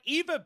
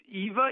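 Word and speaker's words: Ewa: I'm here I'm here I made it it's Eva Evy a no it's II W a for some reason it's pronounced Eva but I don't know why I don't don't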